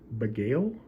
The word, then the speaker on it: Bagail: review of these uh beigail I believe that's how you pronounce up a gale packing